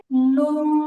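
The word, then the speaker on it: نون: নুন নুন আমরা যখন বাংলাতে ন উচ্চারণ করি তখন সাধারণত আমাদের এইভাবে জিহবার আকাটা তালুতে লাগে না বরং জিহিবার আকাটা দাঁতের গোড়ায় লাগে কিন্তু যখন আমরা আরবি নন বলব তখন নুন উচ্চারণ করার সময় একদম স্পষ্টভাবে জিহবার আগাটা উপরে তাতে লাগে এবং উচ্চারণ মধ্যে আলাদা একটা ভাব তৈরি হয় নুন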